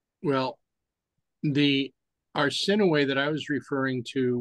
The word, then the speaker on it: Arsinoe: It's Arsinoe. Arsinoe? The way that it's pronounced is Arsinoe. Arsinoe, okay. Yes. Because the umlauts over the E?